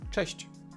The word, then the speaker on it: Cześć: It's that's how you pronounce them. Cześć.